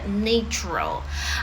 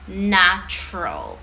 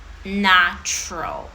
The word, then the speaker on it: natural: І логічно ми думаємо, що натуральний, ну, тобто природній, натуральний в нас буде natural, але це є груба помилочка у вимові, тому що це слово в нас буде читатися як natural. Natural. Just natural.